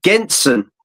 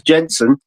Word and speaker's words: Genson: ago um against uh Taylor Genson which is the actual pronunciation because I asked her and she gets wound up that everyone says Jensen um which um she